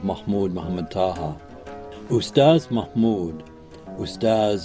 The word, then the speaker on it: Ustadh: Ustadh Mahmoud, Ustadh an honorific in the Sudanese Arabic pronunciation of the word for teacher, often visited Abu Haraz